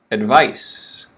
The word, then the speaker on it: advice: word is a noun advice vice quicker vice advice that's a noun